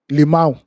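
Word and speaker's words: LMAO: As Temi Season, popular guy on Twitter, tweeted Limau. That's laughing my ass out. Limau. You know, Nigeria, we don't use Mhm. we pronounce the abbreviation.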